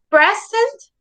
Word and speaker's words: present: A present has the stress in the first syllable.